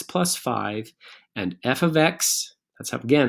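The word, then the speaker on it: f(x): going to evaluate so that's just and it's pronounced f of x f of x is equal to three x plus five these are exactly the same equation y equals three x plus five and f of x let's have again how it's pronounced f of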